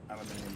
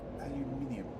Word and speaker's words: aluminium: the necessaries for um aluminum production aluminum production aluminium production yes none of us are American we know how to uh spell and pronounce aluminium you know how to